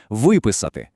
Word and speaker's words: виписати: Якщо дієслово відповідає на питання, що зробити, тобто дія завершена, то наголос падає саме на цей префікс: вийти, виписати. А от якщо питання, що робити, дія ще триває, то наголос тікає з префікса далі у слово виходити, виписувати.